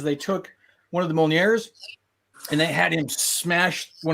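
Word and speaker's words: Mjölnir: No, but the J, M and a J next to each other makes that sound. So what does that sound again? It's Mjolnir. Mjolnir. There's an N. You're only pronouncing the ol and the near, really, and the first part is just kind of a meh.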